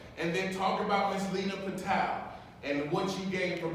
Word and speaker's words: Leena Patel: How do you pronounce her? Leena Patel.